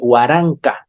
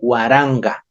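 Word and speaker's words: waranka: nk pero no se no se lee huaranca se lee guaranga la k le cambiamos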